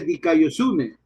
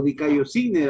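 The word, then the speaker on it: δικαιοσύνη: Precisamente la palabra justicia en griego se dice dikaiosune o dikaiosine, algunos, bueno, depende cómo pronuncie.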